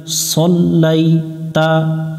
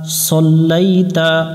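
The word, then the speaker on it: صَلَّيْتَ: এটা অনেকজনের সাল পরে সাল পড়া যাবে না সল লাম মিলবে ইয়ার সাথে লাই সল্লাইতা সল্লাইতা সল্লাইতা বারবার একটু শব্দ পড়ে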